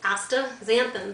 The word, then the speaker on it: astaxanthin: column in the newspaper about AA zanthin it's pronounced AA zanthin just like that if you want to read